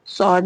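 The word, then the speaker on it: sword: जैसे स्वर्ड। सॉर्ड में क्या है? डब्ल्यू साइलेंट हो गया।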